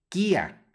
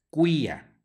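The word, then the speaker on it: cuius: empezamos a leer latín estamos acostumbrados a no pronunciar la u cuando sigue a una q pero en latín siempre suena Así es que esta palabra no se pronuncia Kia si no se pronuncia cuya cuya Ok no se olviden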